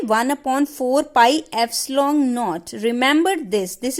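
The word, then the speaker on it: ε₀: 1/4 पाई एप्सिलॉन नॉट. रिमेंबर दिस इज नॉट E नॉट, दिस इज एप्सिलॉन नॉट. एप्सिलॉन नॉट बोलते हैं इसे, और एप्सिलॉन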